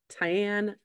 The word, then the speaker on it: tian: I made a tomato eggplant and zucchini um it's spelled TI a an tion Tian I do not know it says that it